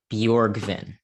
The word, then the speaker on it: Bjorgvin: didn't want to say it wrong it is bjorgvin that's a pronounce my name okay sweet all right yeah